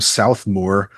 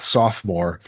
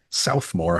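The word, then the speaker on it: Southmoore: He's from South Moore High School, not Sophomore, Southmore High School in Oklahoma.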